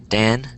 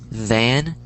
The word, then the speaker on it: than: Dan and den. That's how people are pronouncing it, but it's than and then.